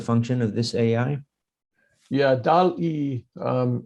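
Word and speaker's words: DALL-E: Yeah, DAL-E, it's DALL, like wall, but spelled with a D.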